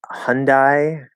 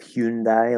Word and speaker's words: Hyundai: most americans say um i hear a lot hyundai hyundai instead of hyundai like it's supposed to be um so i usually